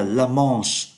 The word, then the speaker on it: La Manche: Và tỉnh này tên là La Manche, chúng ta đọc là âm mũi, en Normandie.